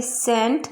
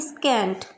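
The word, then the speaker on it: scent: इसी तरह से सेंट, ना कि स्कैंट।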